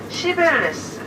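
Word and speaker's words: Cibeles: 하고, 이 분수대, 정면에 보이는 대지의 여신 분수대, 발음을 잘해야 돼요. 시벨레스, 네.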